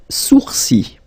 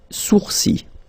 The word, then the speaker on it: sourcils: Les sourcils. Les sourcils. Okay, so it's quite strange because you get this LS at the end, but then, well, you don't pronounce them. Les sourcils.